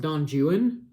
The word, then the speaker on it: Don Juan: look at that but it's pronounced don juan because it's english um it got huge